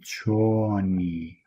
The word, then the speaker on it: choni: And the e sound, so of course I have written that using the letter i, but you pronounce it as e.